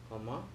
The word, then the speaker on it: Carmont: That's the right way to say it in French. Carmont.